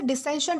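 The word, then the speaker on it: dissentient: दोस्तों इसे डिसेंशंट प्रोनाउंस किया जाता है जिसका मतलब होता है असहमत या फिर विरोधी।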